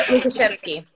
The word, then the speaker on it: Lukashevsky: that doesn't mean it should continue to be mispronounced and i'm sorry that i continued that luca lukaszewski ashley lucas yes very good okay thank you